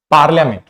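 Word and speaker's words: parliament: है for example business पार्लियामेंट पार्लियामेंट में यह हाफ साइलेंट होता है फुल साइलेंट नहीं होता है पार्लियामेंट में यह हाफ साइलेंट होता है इसमें आधा हल्का सा ई का प्रोनंसिएशन आपका आएगा बिजनेस में हम इसको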